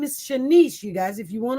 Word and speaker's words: Shanice: is continued, where the mother, her name is Shanice, you guys. If you want to look it up, find out some more information. Her name is Shanice Moore.